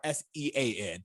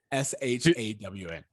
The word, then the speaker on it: Shawn: where they were like, is it SHAWN or SEAN? So anyway, it's SHAWN. Yes, it is spelled with a W, which is good to know for us.